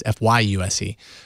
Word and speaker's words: Fyuse: something new check out fuse for yourself in the Play Store for free I've seen some people comparing fuse and that's spelled FY by the way it's not Fus it's fyu uh comparing fuse to